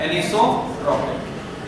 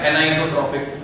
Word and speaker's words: anisotropic: हम बोलते हैं एनिसोट्रॉपिक या एनाइसोट्रॉपिक प्रोनाउंसिएशन। तो क्रिस्टलाइन वाली साइड में